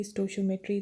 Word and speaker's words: stoichiometry: Now, whatever you want to pronounce, it's stoichiometry, stoichiometry, it's up to you.